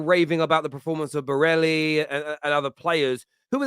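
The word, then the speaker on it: Barella: So it's Berella. Berella, yeah. You know what's mad?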